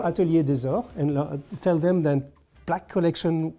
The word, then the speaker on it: Atelier: with this brand but I know how to pronounce it Atelier or is the the gold Atelier is an Atelier so Atelier I saw that